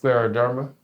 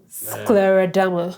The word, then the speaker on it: scleroderma: help you with that so it's pronounced Scleroderma Scleroderma yes which is Latin based for hard skin because the condition causes